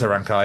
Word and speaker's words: Arankai: It is Arankai, yeah.